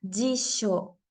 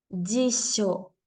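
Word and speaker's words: じしょ: J en el japonés Bueno pues ahora la J va a sonar como doble L para eso tenemos Este ejemplo la palabra jisho jisho que significa diccionario el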